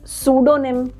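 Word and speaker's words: pseudonym: we call it psychology then we call it सूडोनिम right साल साइट्रिस्ट right तो अगर पी और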